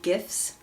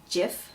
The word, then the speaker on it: GIF: argue that they're pronounced GIF like peanut butter but I call them gifs because the G stands for graphic and the sound the first sound in graphic is G so would be GIF